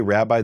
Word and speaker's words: rabbi: So you have three different possible syllable or vowels for the first syllable: ah, e, and eh.